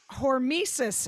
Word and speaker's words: hormesis: fail what what is tell me what um hormesis is it sounds like a greek character in